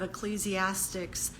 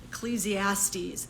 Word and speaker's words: Ecclesiastes: you today out of ecclesiastics ecclesiastes that's how you say it all right ecclesiastes